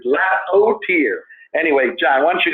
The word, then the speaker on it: Lapotaire: So, Mr. Lapotaire, T-E-A-R. That's how they pronounce his name. He always does it phonetically. Lapotaire.